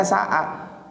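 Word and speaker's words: ساعة: Sebetulnya bacanya sa'ah.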